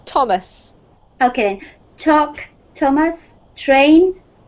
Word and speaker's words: Thomas: It's actually just a T sound, Carmen, so it's Thomas.